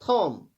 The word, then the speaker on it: thumb: THUMB, इसमें B silent रहता है, थॉम।